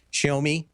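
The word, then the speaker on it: Xiaomi: a big company like show me which is spelled with an X so if you ever see it it is Xiao Mei think just keep an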